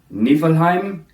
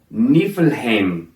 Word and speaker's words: Niflheim: have in the past today you'll hear heimdall on time niflheim and muscleheim these are the germanic pronunciations of these words however today we'll be pronouncing them heimdall niflheim and muspelheim these instead are the icelandic pronunciations and are more close to the original ancient pronunciations you're going to hear